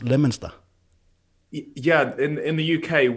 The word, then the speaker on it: Leominster: in as i would say pronounced in danish leo minster but it's pronounced leminster yeah in in the uk we don't speak